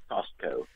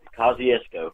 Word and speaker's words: Kosciusko: at first I'm sitting on my Costco Mississippi Costco Oh Kosciusko but yes investigating up here or home oh